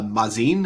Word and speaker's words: Mazin: uh craig uh uh mazin is that how that's pronounced yeah uh yeah because amazing yeah i'm looking at